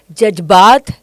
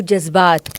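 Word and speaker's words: जज़्बात: Like in Hindi, if you say jajbaat to jazbaat, जे था और ये बन गया जेड.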